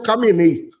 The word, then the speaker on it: Khamenei: O primeiro Ayatollah foi a Ayatollah Ali Khomeini e esse é o Khamenei. Eu sei, é KH. Khamenei se pronuncia assim.